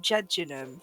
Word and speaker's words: Jejunum: And then we're gonna make our way to Jejunum? The Jejunum Gap, Is yeah. that how you pronounce it? Jejunum?